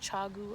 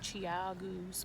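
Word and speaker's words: ChiaoGoo: it's chia chow goo i think it's pronounced chagu i always say like chiagos but um man they are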